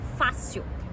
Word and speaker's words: fácil: Vamos lá para a palavra fácil. Fácil. Fácil. Última é sil, penúltima fá. E foi acentuado porque é uma paroxítona terminada em L.